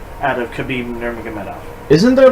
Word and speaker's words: Nurmagomedov: fight current white weight champion khabib nurmagomedov khabib nurmagomedov good try on that name no that's actually how you pronounce it did you google it yes I